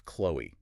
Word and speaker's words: Chloe: Her name is Chloe. That is spelled C-H-L-O-E.